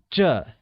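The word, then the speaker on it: 这: same this translates as juh and is pronounced with a falling tone also recall that ISA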